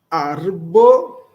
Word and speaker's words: arbo: antes de antal estas arbo ant ladomo. Opa, veja que nós não naszalizamos este m de domo. Falamos do, depois o mo. Estas arbo, anta ladomo. Lembrando que o r é vibrante. Arbo.